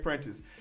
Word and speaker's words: Prentice: I don't know how to say that if I'm saying it right. Let's hear Siri say it real quick. Greg Prentice. Yeah, I got it right. Greg Prentice.